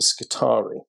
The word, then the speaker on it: Skitarii: So the next idea for the mystery army is Mechanicum and the Skitarii. Notice the pronunciation of Skitarii, not Skitarii.